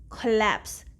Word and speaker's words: collapse: the next word is collapsed we write it like this but we read it with the schwa sound collapse okay collapse means a